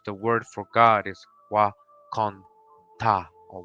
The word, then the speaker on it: Wakonda: In our Osage language, the word for God is Wakonta or Wakonda. I have been told how they pronounce it in the film is exactly how we pronounce it.